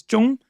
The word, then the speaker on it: Trung: In Vietnam, the way you pronounce it is Chung, and I didn't realize that until I moved to Vietnam when I was 23. So I lived 23 years with the white pronunciation of my own name.